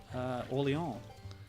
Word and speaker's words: Orleans: Yeah, a lot of French influence in New Orleans, of course. The name itself, it's the new Orléans, as you say in French, but in American you say Orleans, because you pronounce things in a more literal manner.